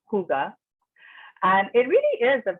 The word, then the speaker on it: Hygge: It's spelled Hygge, but it's pronounced Hygge.